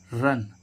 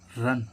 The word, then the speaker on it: run: तो गाइज पहला रूल क्या कहता है, जब भी किसी वर्ड में दो व्यंजनों यानी कि कॉन्सोनेंट्स, इंग्लिश में व्यंजनों को क्या बोलते हैं, कॉन्सोनेंट्स के बीच में यू आए तो इस यू का उच्चारण आ होता है। ठीक है, इस यू का उच्चारण क्या होता है, आ। जैसे हम देखें कि रन, RUN, रन, रन means क्या होता है, दौड़ना।